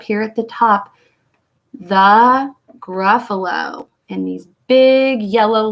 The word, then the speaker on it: Gruffalo: about the word Gruffalo Gruffalo is a word that has three syllables let's clap them out ruff uh low awesome let's try that